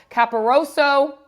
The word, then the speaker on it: Caporoso: And then today, we are joined by Joe Caporoso of Turn on the Jets and Badlands podcast.